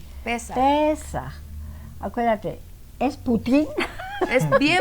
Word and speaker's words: Pesaj: Pasaj, ¿verdad? Pesaj. Pesaj. Pesaj, con el acento en la E. Pesaj.